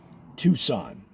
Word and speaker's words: Tucson: And then they said, we are going to make the C and Tucson silent because a lot of people were still calling it by the old word. Like I said, Tucson, they pronounced that C, Tuk. Well, eventually the Americans said, man, that's way too much work to go Tuk. And they just called it Tucson.